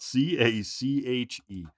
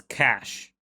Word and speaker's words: cache: I don't know actually we now disc guing the pronunciation of the word spelled c a c h e and I think I've heard both Google says cash oh okay not cache yeah